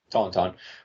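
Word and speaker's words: tauntaun: all right so okay according to Wikipedia tonon pronounced Tonton were a species of non-sentient lizards native to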